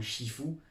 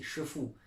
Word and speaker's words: Shifu: Mais bon, bien sûr, on n'est pas censé savoir que Shifu et non Shifu, la vraie prononciation c'est Shifu, veut dire maître.